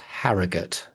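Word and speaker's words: Harrogate: To people who are not northern, that is pronounced harrigate.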